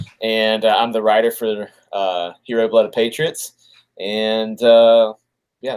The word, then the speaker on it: Hiro: Do you guys pronounce it Hiro? Yeah, Hiro.